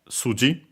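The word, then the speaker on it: 筋: that we have uh suji accent on the s on its own so at the start suji uh uh literally means uh muscle, tendon.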